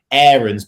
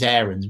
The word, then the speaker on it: Aarons: He was like, by the way, it's not AARONS, it's AARONS.